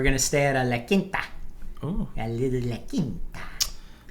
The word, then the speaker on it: La Quinta: We're going to stay at a La Quinta. Ooh. A little La Quinta. Good quality. Which I used to pronounce as La Quinta.